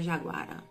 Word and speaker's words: Jaguara: viva da Vila de Jaguará não tem acento então fica Jaguara simplesmente o melhor pipeiro